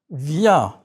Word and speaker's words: viens: Remember to let air escape through your nose and your mouth. Your mouth is slightly open and your lips are stretched in a smile. The N is not pronounced.